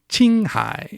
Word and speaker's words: Qinghai: you read it you it's spelled q i n g h a i but it's pronounced in Chinese Ching high and literally uh the